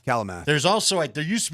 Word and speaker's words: Kalamath: Is it Kalamath or Klamath? Kalamath.